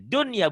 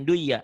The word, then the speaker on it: dunya: Dunya itu kan nun mati ketemu ya idgham bigunnah. Karena ketemunya satu kalimat nggak jadi idgham, dibacanya jadi idhar. Itu nanti yang dikatakan idhar mutlak. Jadi dunya bukan duya, dunya.